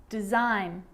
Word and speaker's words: design: also be silent too think about the word sign champagne design or foreign all of these examples have a silent g and the combination gh